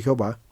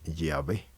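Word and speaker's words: Yahvé: así resultó Jehová pero los especialistas consideran que el nombre de Jehová no es correcto el nombre correcto y que se prefiere es el de llave para poder ser pronunciado Aunque y hwh se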